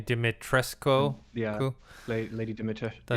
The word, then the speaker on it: Dimitrescu: And then I guess people are talking about obviously Lady, how do you pronounce her name? Dimitrescu.